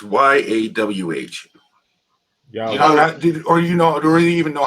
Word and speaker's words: Yahweh: So how do you pronounce Y-A-W-H? Yahweh.